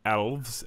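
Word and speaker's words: Aelves: The Deepkin, the Realm Lords, the Silverneth, they're not called elves anymore. No. They're called, I don't even know how you say it, elves? Elves. It's elves with an A at the front because it's copyright.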